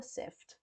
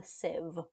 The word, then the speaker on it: civ: So, it's it's not called a sift. It's a civ.